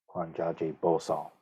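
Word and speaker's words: 觀自在菩薩: three characters of the heart suture itself I pronounce is kwanjaje kwanjaje bosal which is um the Korean pronunciation for the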